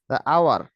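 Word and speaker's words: hour: পেরেছেন এবার হচ্ছে কি এয়ার এই এন এয়ার আওয়ার এই ইউ আর আওয়ার আওয়ারটা হচ্ছে কি ও উচ্চারণ হচ্ছে এই সাইলেন্ট থাকতেছে সুতরাং এরপরে কি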